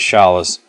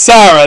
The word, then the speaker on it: Sara: that's right kid is Sha's I said it wrong it's Sarah they up the translation in both games that's right kid is